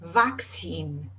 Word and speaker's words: vaccine: de vacina agora vaccine vaccine tem 26 nessa palavra e 26 são perguntados de forma diferente você precisa pronunciar os dois o primeiro Cê tem som de k e o segundo tensão the vaccine vaccine Então essa é a